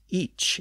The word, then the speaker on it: ic: from earlier episodes that it was originally pronounced each in Old English usually spelled I or